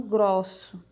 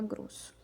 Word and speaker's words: grosso: Ele está mostrando que você deve falar o som fechado e não grosso, né? A gente fala grosso.